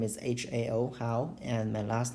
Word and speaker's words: Hao: In order to help you pronounce my name, you can pronounce this Hao as Hao and as. And this is the closest pronunciation to my Chinese name.